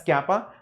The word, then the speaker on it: kappa: It's not exactly k, it's slightly different. It's kappa, looks like k, that's all. Pronounced as kappa, this is pronounced as k, that's all.